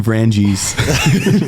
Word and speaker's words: Vranjes: Can you pronounce your last name as it's supposed to be pronounced? Vranjes.